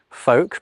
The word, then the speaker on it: folk: It's during the early modern English period that certain L's become silent, like in folk, but also in almond and in palm.